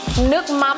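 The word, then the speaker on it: nước mắm: a more Umami flavoring and taste to it nuk m is how you say fish sauce in vienamese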